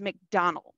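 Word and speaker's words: Macdonwald: Just as a heads up, it's not spelled like McDonald of like McDonald's, you know, like I'm loving it with the golden arches. It's spelled like McDonwald, which is just kind of weird, but that's the way of it.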